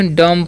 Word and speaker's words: dumb: DUMB है ना, क्या लिखा हुआ है DUMB से डम्ब पढ़ते हैं, क्या पढ़ते हैं डम्ब, डम्ब नहीं, यहाँ पर बी साइलेंट होता है, ठीक है। क्या होता है बी साइलेंट, इसका उच्चारण नहीं होता है, ठीक है।